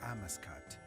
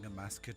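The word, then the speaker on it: Amascut: dead, and his sister Amaskut, goddess of rebirth, which I've been mispronouncing Amaskut my whole life, but apparently it's Amaskut.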